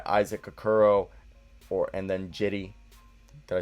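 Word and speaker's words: Cedi: akuro or and then jitty did i say that right somebody told me it's pronounced with the j not c jetty osman at the small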